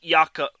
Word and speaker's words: Jakob: Yes, that is pronounced Jakob. His first name is pronounced Jakob.